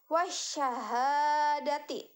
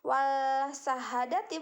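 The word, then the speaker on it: والشهادة: lam bertasydid itu maka alif lam di sana tidak dibaca jelas jadi langsung dibacanya seperti ini wasyahadati bukan wall sahadati bukan TV wasyahadati Hanya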